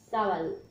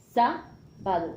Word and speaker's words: sábado: Entonces, el día favorito de la semana, sábado. ¿Lleva tilde? Sí. Sábado. Cantadito. Sábado, sábado. Alargamiento en la A.